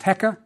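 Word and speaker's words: heqa: with its own meaning first the crook pronounced eka means ruler next again something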